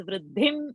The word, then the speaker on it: वृद्धिं: So the previous anuswara will become nya, nya with the chandra bindu.